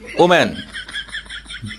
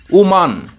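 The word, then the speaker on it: Oman: আমরা বলি ওম্যান যেটা সঠিক নয়। এটার সঠিক উচ্চারণটা হবে ওমান।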